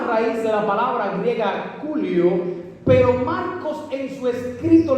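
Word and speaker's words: κυλίω: En Mateo 27:60, Mateo usa una palabra griega que se pronuncia culio, y culio significa rodar.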